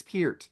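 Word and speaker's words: Peart: you I thought you were gonna go per like pronounce it like the shampoo it's Pier he even said it on Eddie Trunk one it's Pier so there you go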